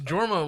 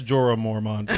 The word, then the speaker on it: Jorah Mormont: Jorma was cool, but then he was just like too needy. That's Jorah Mormont, for anyone who doesn't know. Marvin's butchered it at this point.